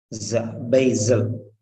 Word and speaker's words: basil: Now coming to this second sound, wherever S is there, S will be pronounced as a Z. Remember that. S will be pronounced as Z, Basil.